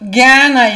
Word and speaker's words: Jnana: Okay, so again, we are talking about Jnana Yoga. Jnana is a difficult word to pronounce because it's not ja, it's not gya, it's not dia, but it's something in between.